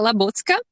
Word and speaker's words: Labucka: a dot j or dot j dot labuka am i pronouncing your last name correctly in my language it's uh la botska oh okay and you'll know her when you